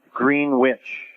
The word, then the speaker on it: Greenwich: called green witch um spelled the same as Greenwich Connecticut but it was pronounced green witch um and it was